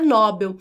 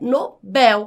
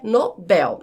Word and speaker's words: Nobel: Mas a pronúncia não é Nobel, a pronúncia é Nobel com a última mais forte, portanto não tem esse acento e a pronúncia correta é Nobel.